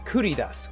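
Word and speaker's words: 繰り出す: I think that's atsukari dasu. It is not. I'm just mucking up how to say this. Give me that. Then give me the box, which gives me that. Ridasu. That is kuridas.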